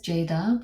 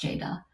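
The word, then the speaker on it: Ceyda: bit about her name so her name is Jada which is a Turkish name but it's in Turkish C the letter c is pronounced like the letter Jade so it's spelled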